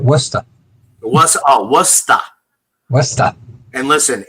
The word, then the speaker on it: Worcester: Got to say it right, Worcester. Worcester. Worcester. And listen, it's Drake it. I know how to pronounce the stuff.